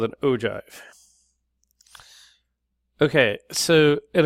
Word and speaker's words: ogive: at something called an ogive okay so it ogive is spelled o giv e pronounced o jive all right so this